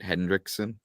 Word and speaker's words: Hendrickson: Hendrickson?